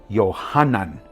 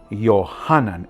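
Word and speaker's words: יוחנן: Ahora, el nombre Juan es un nombre hebraico. Se pronuncia Yohanan. Yohanan.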